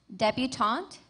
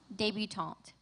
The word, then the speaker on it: debutante: Your word has 2 pronunciations, debutante, debutante.